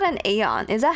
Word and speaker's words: aeon: it really called an aeon is that how you say it how you say the name or is it just Eon is it Iyana aeon it's eon then that's the same production